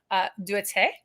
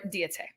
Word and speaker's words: Deette': there's a proper French pronunciation, and then there's the pronunciation that my family's been saying since I was born, and we're very American.